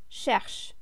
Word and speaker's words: cherche: Je cherche. The ending here is e, which is not pronounced, of course, you remember that.